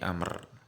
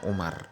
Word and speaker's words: Amr: Hadits Ibnu Umar Maaf Ibnu Amr bukan Umar hebatnya Amr oleh Ahmad minhati Ibnu Amr Jadi kalau habis lo ada waktunya Amru ini imbasnya amat kalau ndak taunya bacanya Umar gitu Ya udah met milad